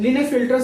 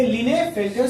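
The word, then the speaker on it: Klinefelter: भैया इसमें एक है लिनेफिल्टर सिंड्रोम, यहाँ पे के साइलेंट होता है। क्या होता है? के साइलेंट होता है। ये के को हम लोग ना पढ़ के डायरेक्ट यहां से पढ़ेंगे लिनेफिल्टर सिंड्रोम।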